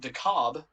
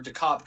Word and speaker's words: DeKalb: is in dekalb illinois but in georgia you guys probably heard of the town of dakob or dekop county it's spelled the same way pronounced differently um yeah go figure so